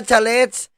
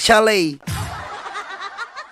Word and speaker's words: chalet: Ah hindi pala chals. Shal. Ed. Baguhin natin. Naknak. Chalet.